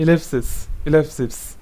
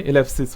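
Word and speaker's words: ellipsis: और ये आप लोग देख सकते हो, ठीक है, ये है इलेप्सिस, ठीक है, ये होता है इसका प्रोनाउंसिएशन, पॉइंट इस तरीके से बिंदु लग जाएगा मतलब, तो ये इलेप्सिस हो जाता है।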